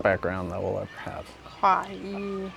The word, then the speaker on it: Kaua'i: Kaua'i. How do they pronounce it? Kaua'i.